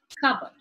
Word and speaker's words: cupboard: If you notice in the transcription, the p sound is missing. This is something that you need to make note of when the sound is deleted off the word. So p is silent, cupboard.